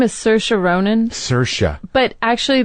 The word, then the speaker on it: Saoirse: put her name is Saoirse Ronan Saoirse but actually the Irish way to pronounce it is Saoirse Saoirse Ronan and I